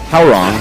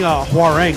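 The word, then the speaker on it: Hwoarang: It's how wrong, which is what I said was that's the good description of my previous pronunciation. How wrong it was. I was saying Huarang forever. I also say Huarang, and I'm wrong. So there we go. W is silent, apparently.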